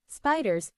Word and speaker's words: SPDR: depository receipts spy or spdrs pronounced spiders is an exchange-traded fund